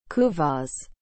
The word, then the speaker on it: kuvasz: what is the meaning of the word kuvas as a noun long established hungarian breed of